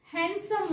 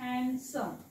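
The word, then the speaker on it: handsome: दिसत नसेल तरी ह्याला वाचत असताना हँडसम वाचायचं काय वाचायचं हँडसम थोडे वेगळे अपवादात्मक अशा प्रकारचे हे शब्द आहेत हॅन्डसम हॅन्डसम ओके हॅन्डसम ह्याला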